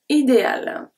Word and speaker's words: idéale: We don't need the E at the end. We don't say idéal. We don't say that. Idéal.